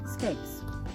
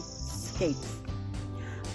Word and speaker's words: scapes: of the garlic plant we're going to harvest steaks or snaps or snakes or however you want to pronounce it it's really scapes but escapes are the